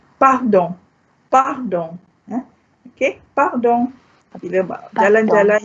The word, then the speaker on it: pardon: you can say pardon, pardon. Pardon means pardon me. Okay, I share with you this word because it's the spelling is just like English, only with a slight difference in pronunciation.